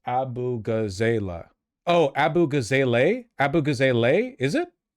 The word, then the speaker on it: Abughazaleh: It's pronounced abughazaleh.